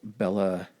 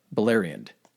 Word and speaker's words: Beleriand: of the Rocky Mountains is called, it's called Bella. For some reason, I always have trouble pronouncing this, and then once I hear it, I realize how much of an idiot I am. It's called Beleriand.